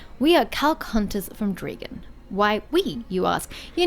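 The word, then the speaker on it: Drieghan: But everyone in this country, kingdom, place, seems to call it Dregan, so that's why I have to call it that way. But I still maintain that it's not spelled correctly if you want to pronounce it thusly.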